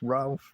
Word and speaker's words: Ralph: It's not Rafe, it's Ralph, mate.